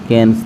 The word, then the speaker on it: Cannes: देखिए 13 नंबर प्रश्न है कि वार्षिक अंतर्राष्ट्रीय फिल्म महोत्सव कैन्स, ठीक है, कैन्स, इसका स्पेलिंग होता है CANNES, कैन्स।